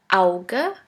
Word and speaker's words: Auge: The second letter combination is A-U, which is pronounced like ow, ow. Here we have the example of the word Auge, which means eye. Now please repeat after me.